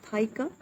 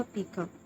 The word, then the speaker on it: pica: फाइका क्या चीज़ है एंड the real pronunciation of this word is फाइका, नॉट अ पीका.